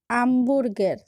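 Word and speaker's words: hamburger: আক্কা একটি পরিবর্তনীয় অক্ষর, অর্থাৎ আক্কার সাথে ব্যবহৃত ভোকালিগুলোর উচ্চারণে আক্কার উচ্চারণ পরিবর্তন হয়। যেমন হোটেল, হোটেল অর্থ হোটেল। আমবুর্গের, আমবুর্গের অর্থ বার্গার।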